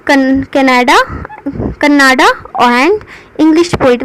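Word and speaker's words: Kannada: इसे कन्नाड़ भी कहते हैं, पर जब हम इंग्लिश में इसे प्रोनाउंस करेंगे तो कन्नाडा कहेंगे। Well known for his translation of classical एंड modern poetry.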